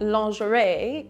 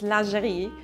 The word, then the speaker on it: lingerie: things you're pronouncing wrong it's not lingerie it's lingerie it's not horse-doo earth